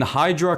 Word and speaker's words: Hydra: Next up is the Hydra, which I mean Hydra kind of rhymes with hybrid, and I would say this is a hybrid of both a helicopter and a plane in one.